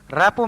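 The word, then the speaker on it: rapport: greedy and plundering rappo r-a-p-p-o-r-t the t is silent rappu means understanding or emotional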